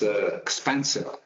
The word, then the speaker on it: XPANCEO: uh it's uh um how is the correct pronunciation of the company expansio expansio what's the correct so it's expensive expensive that's uh that's good so I don't